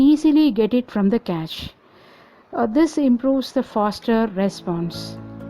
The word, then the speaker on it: cache: The cache, C-A-C-H-E, which is pronounced like cache, not catch or cache, like this.